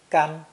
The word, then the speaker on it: 干: This three-stroke character is pronounced first tone. Gan.